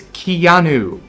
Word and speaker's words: Keanu: these that's the record it's Keanu yeah pronounce my name right and I'll Stick Around